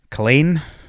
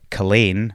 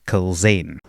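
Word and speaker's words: Culzean: in the middle and it's not actually a zed it's a y so there's a place in near Glasgow that's called Cain and that's c l z e aan but of course that Zed was a yod which is why it's Cain not Kain okay so you guys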